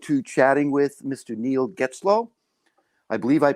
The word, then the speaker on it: Getzlow: I'm looking forward to chatting with Mr Neil Geto I believe I pronounced that correctly yeah you got it right